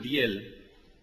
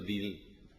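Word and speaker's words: Diehl: Bueno, entonces, sí, Schlumberger, desde luego, y Charles Diel, que yo pronuncio Diel por mi deformación del Deutsche Sprache, ¿no?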